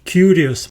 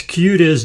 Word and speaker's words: kurios: our list is the word kurios it sounds very very similar to the English word curious so if you can pronounce Curious George you will have no troubles pronouncing curious the word curious means